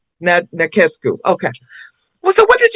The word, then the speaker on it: Nachescu: And how do you pronounce your last name? Nachescu. Nachescu.